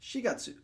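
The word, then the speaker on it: 四月: However, you need to pay attention to April and July and September, which are pronounced shigatsu. Shigatsu, shichikatsu, and gatsu. Okay, so we're using the other reading for shi and chichi for 4 and 7. And then instead of Q, it becomes Ku gatsu.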